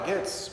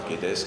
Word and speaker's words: Guedes: Et pour moi, le néolibéralisme ne se limite pas à Goetz, puisque j'ai appris qu'il fallait prononcer comme ça, et certainement pas Guedes, comme le français le fait généralement, mais je crois que c'est assez important.